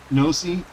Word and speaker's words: Ypnosi: If MM or, who is it, Nosi, spelled with a Y, YPNOSI, if Nosi or MM